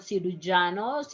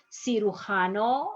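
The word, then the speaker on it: cirujano: having trouble with this it's not si lujanos janna is si hano or si which is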